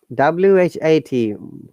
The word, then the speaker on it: what: Now, WHAT, most of you will say what, but in pronunciation rule, it is what, not what. Similarly, when all the H should be silent.